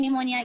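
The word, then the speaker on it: pneumonia: सभी को मालूम है यह वाली स्पेलिंग होती है निमोनिया की। नहीं लेकिन स्टार्ट मालूम देखिए हम निमोनिया बोल रहे हैं लेकिन स्टार्ट कैसे होगी? वो पी से स्टार्ट होगी।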